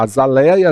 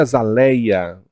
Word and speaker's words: azaleia: de dupla prosódia tá eu tenho acrobata e acrobata a a sala a azaleia azaleia Boêmia e Boemia Então essas palavras como vocês estão vendo elas apresentam dupla prosódia a olha no caso